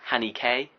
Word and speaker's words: Haneke: that I now know that you're supposed to pronounce it Hanny k which I didn't know but I'm still gonna call him Haneke he's not going to know the movie or